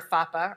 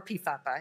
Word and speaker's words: PFAPA: pharyngitis, and adenitis syndrome, or FAPA, or PFAPA, if you want to say an extra syllable.